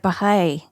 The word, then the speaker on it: Bahay: you went yes sorry you were like baha'i i did both but you spell it b-a-h-a-y which means home and i'm filipino yeah